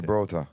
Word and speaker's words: Gibraltar: Gibraltar.